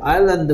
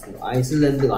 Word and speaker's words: island: 그 다음에 아일랜드 같은 경우에 S가 묵음이라는 거, 아이슬랜드가 아니고 아일랜드라는 거.